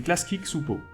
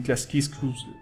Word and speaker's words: Klasky Csupo: À l'époque, la boîte d'animation des courts-métrages, c'était Klasky Csupo. C'est pas si facile à prononcer au début, Klasky Csupo. Hein? Voilà. Klasky Csupo.